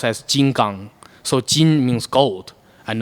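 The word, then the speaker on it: 金刚: yeah yeah from theie movie it's it's actually pronounced as Jin gang so Jin means gold and then gang means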